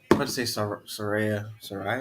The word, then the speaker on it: Saraya: That's gonna be psyched to see Britt Baker versus Saraya.